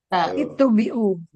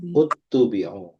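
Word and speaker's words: اتُّبِعُوا: Itu bukan itubiu. Itu utubiu. Utubiu.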